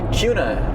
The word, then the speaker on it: Kuna: Kuna is the proper way to say it. Like with a Q?